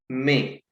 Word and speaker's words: mes: It is pronounced as may.